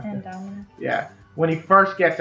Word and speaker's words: Indominus rex: when the Indominus Rex, I keep saying his name wrong. Indominus.